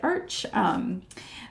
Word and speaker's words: Arches: So this reference photo, I took my arch watercolor paper, and if you're French, you will pronounce it arch, but you've got your watercolor paper.